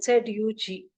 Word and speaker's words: Zug: The same way you have to pronounce for Z. So it is Zug.